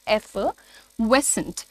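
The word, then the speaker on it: effervescent: इसमें एफ का साउंड है, आर को बोलना नहीं है. एफिवेसेंट, एफिवेसेंट, ठीक है, एफिवेसेंट.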